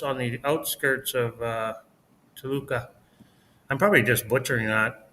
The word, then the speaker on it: Toluca: No, there's rules for where to put the stress on the word, depending on the syllable. But U's are a weak one, so I think it's Toluca, but Toluca. Toluca, whatever.